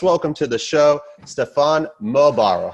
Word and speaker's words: Muehlbauer: to the show stefan mobaro how are you doing awesome thank you for having me and congratulations for pronouncing my weird german name in uh such a professional way i just realized we